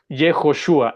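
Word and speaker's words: יהושע: Eh, pero esas cuatro letras son las cuatro letras que componen el nombre de de Josué, que se pronuncia, insisto, Jejoshua y que significa el Señor salva.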